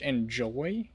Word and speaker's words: Enzoy: Uh, let's actually, um, looks like Miam is playing Enzoy, which is actually, I found out, pronounced Enjoy.